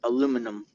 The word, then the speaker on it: aluminum: we spell it with only one I, so it's aluminum. Num, not inium.